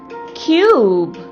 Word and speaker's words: cube: C-U-B, cube. H-U-G, huge. C-U-T, cute. T-U-B, tube.